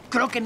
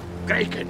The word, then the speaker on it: Kraken: Kroken era la pronunciación ir... Kraken.